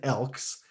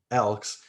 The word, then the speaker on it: Elks: now the edmonton elks yes there is an s at the end and yes that's uh phonetically correct i'm not even sure if the word phonetically is correct but uh the edmonton elks not elk elks and they released a